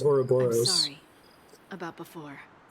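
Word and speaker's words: Ouroboros: was um bravely default mispronounces it or robberos which sounds cooler it's actually pronounced auroboros sorry about before it's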